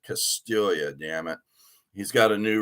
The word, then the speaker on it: Castiglia: started hey albert castilla not to be confused with albert castiglia even though his name should be castiglia it's c-a-s-t-i-g-l-i-a he pronounces it castilia dammit he's got a